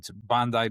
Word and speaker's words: Bondi: But So I wanna, so it's Bondi Beach.